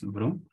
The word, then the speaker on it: vroom: I think it's Vroom. It's pronounced Vroom, and then Tidyverse packages.